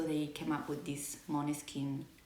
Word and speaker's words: Måneskin: It's actually pronounced Måneskin. It's not Måneskin, but everyone basically, like most people call them Måneskin.